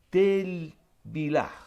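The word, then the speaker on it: טבילה: La palabra bautismo en hebreo se pronuncia la palabra bautismo tevilaj.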